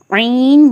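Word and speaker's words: عين: ஐன் ஓதுறதுக்கு முன்னாடி ஒரு லைட்டான ஒரு சவுண்டு பின்னாடி வந்துட்டு அப்புறமா இந்த லெட்டர் வந்து ப்ரொனவுன்ஸ் பண்ணுற மாதிரி இருக்கும். ஐன்.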